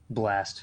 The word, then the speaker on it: bLa$T: Another one with the dollar sign. bLa dollar sign T. Blast.